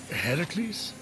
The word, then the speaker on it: Heracles: Heracles? Yeah, that. That is how it's supposed to be pronounced.